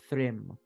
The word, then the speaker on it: Thrym: You remember that the this symbol is reminiscent is actually the symbol of Thrym, the god of the frost giants. How do you spell that?